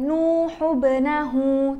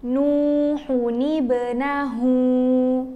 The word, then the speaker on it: نوح ابنه: Nah, rumusnya, kalau ada dua sukun yang ketemu kayak gini, sukun yang pertama kita ubah jadi baris bawah. Jadi, kalau disambung kata Nuhun dan Ebenahu, cara bacanya bukan Nuhu Benahu, tapi Nuhuni Benahu.